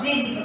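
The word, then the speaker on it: djinn: This is the picture of Jin. Okay, see here. D-J-I-N-N. So you have to pronounce it as Jin.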